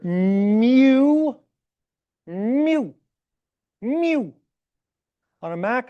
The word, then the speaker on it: mu: and then write a U. Please don't just call this U. It's the Greek letter mu. It's their version of M.